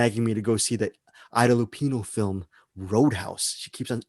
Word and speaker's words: Ida Lupino: I know the name and I forgot how to pronounce it correctly. Ida Lupino.